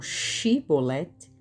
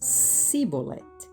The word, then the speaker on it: shibboleth: os que eram efraimitas pelo modo como pronunciavam a palavra shibboleth, que significa espiga, que os galaaditas pronunciavam shiboleth e os efraimitas siboleth.